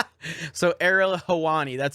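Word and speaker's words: Helwani: about him such a douche so ariel hewani that's how you pronounce it ariel hawani made it all about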